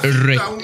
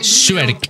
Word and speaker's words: Shrek: Es que no lo han pronunciado bien, habías dicho Rey. Es Shrek. Shrek.